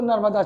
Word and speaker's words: नर्मदा: और निर्बुड्डा बोलोगे तो नर्मदा क्षेत्र, नर्मदा, हाँ, वो लोग उस समय निर्बुड्डा बोलते थे। अरे अंग्रेजों को ठीक से प्रोनाउंस करने नहीं आता था भाई, नर्मदा क्षेत्र को निर्बुड्डा, ठीक।